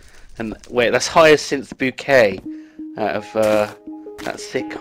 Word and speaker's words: Bucket: and upper class that she makes people pronounce it bouquet even though it's spelled bucket so Christmas right you're